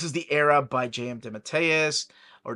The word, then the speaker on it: DeMatteis: He told me how to pronounce it. He's like, yeah, I let people pronounce it DeMatteis forever, but, you know, truly it's supposed to be DeMatteis. And I'm like, you got it, DeMatteis it is.